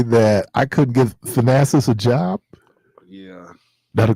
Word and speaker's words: Thanasis: Thanasis.